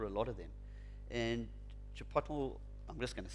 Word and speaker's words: chipotle: it, but I don't think it's the correct pronunciation, is chipotle. Chipotle in the States.